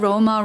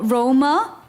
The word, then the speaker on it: Roma: To be fair, you said Roma wrong just now. Ro Roma. Well, in Korea, I was saying it's like Roma, which is not obviously how the Italians say it, but it's closer in my opinion than Rome.